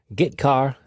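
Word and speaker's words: getchar: character io functions are get car and put car that's how I pronounce them get car fetches a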